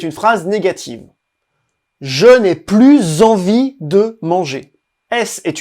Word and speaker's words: plus: plus envie de manger on ne prononce également pas le S quand il modifie un adjectif ou un adverbe plus plus adjectif Karine